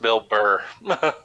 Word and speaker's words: Bill Burr: he's just kicking sideways i also think it's pronounced bill burr you're right bill barr is the attorney general who uh kind